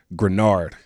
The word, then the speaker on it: Greenard: talking about our guy outside linebacker Mr Jonathan granard man this is I said it right right